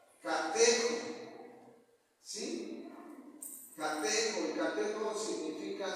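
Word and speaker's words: κατέχω: Retener también viene de una palabra griega que significa, se pronuncia catejo.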